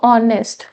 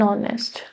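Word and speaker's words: honest: तो ऑनेस्ट एच ओ एन एस टी। यहां पे एच साइलेंट है। ओ की आवाज आ रही है। ओ की साउंड है।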